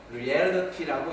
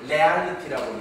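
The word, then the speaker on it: reality: 금방 우리 이철수 목사님 연구하시면서 리얼리티라고 이렇게 발음을 해야 되는 것을 레알리티라고 얘기한다거나 리얼리티라고 얘기한다거나 못 알아듣습니다.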